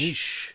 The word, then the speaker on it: niche: Niche. Like a quiche. Niche, quiche, they're all the same. Well, I think I've looked it up in the dictionary, and the pronunciation guide gives 2 pronunciations as acceptable.